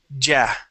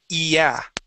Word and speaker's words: yeah: So instead of thinking of that as a Y, I want you to think of that as an E sound. So instead of saying ja, we'll say yeah.